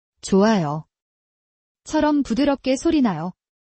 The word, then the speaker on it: 좋아요: 그래서 좋아요, 좋아요 처럼 부드럽게 소리나요.